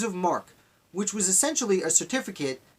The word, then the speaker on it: marque: I always want to pronounce it marquis because I read it that way 20 years ago. Letters of marque, which was essentially a